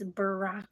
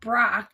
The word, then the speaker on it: Barack: happens to us all you put Barack it's Barack Obama Barack now I'm forgetting how the to spell it damn it it's been a while so now but it's not Brock it's not Brock is barck barck is b